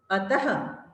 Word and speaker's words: अतः: इसका उच्चारण हम करेंगे प्रातः, नमः, अतः।